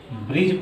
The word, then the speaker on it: bridge: उसी तरह है BRIDGE, ब्रिज पढ़ते हैं, डी साइलेंट हो जाता है।